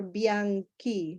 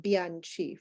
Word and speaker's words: Bianchi: video that I have Senor bian Ki not Bianchi for example grazia School